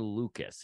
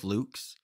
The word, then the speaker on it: Lukes: up either way, but his name is pronounced Nathan Lucas, even though it is spelled Lukes. I'm going to continue to go with Lukes.